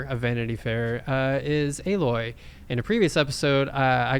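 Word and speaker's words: Aloy: got picked on because i said alloy even though i have played uh horizon zero dawn the first one uh i did not remember how to pronounce her name but i guess it's a loy so apologies to gamer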